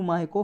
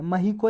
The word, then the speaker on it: Mahyco: Next topic है Haryana grants NOC टू माहिको for field trial of BT cotton variety. एक माहिको नाम की, ये समझ लो कंपनी है, महिको या माहिको कुछ भी बोल सकते हो आप, प्रोनाउंसिएशन पे आप